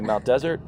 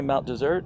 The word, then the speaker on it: Mount Desert: there's only one s some people say Mount desert but locals say Mount dessert and we think it's